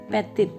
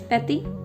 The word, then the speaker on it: petit: I have told you this rule that the consonant at the end of word is not pronounced. Like como, patty, you will not pronounce it petit. This is patty.